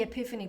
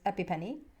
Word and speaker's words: epiphany: without saying that so she thought it was epipenny like how is this pronounced epipenny i think it's epiphany that you want to reach for um there's an